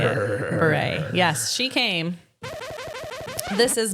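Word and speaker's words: Bure: Candace Cameron Beret is how you say it. Beret.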